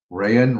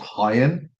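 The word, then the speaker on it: Rayan: We call him Ryan. Ryan Ryan. Yeah. Strangely enough the commentator said it's pronounced Hyen. Oh I suppose because of Portuguese.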